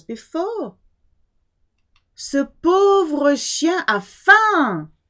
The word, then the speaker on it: faim: Ce pauvre chien a faim. You do not hear the M of faim.